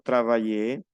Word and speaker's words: travailler: La A y la I, cuando va delante de una L o de dos L, no se pronuncia E, se pronuncia AI. Ejemplo, travailler, le travail, Versailles.